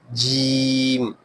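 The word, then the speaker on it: ج: Next is Jeem, Jeem, Jeem. Middle part of the tongue touches upper side of mouth.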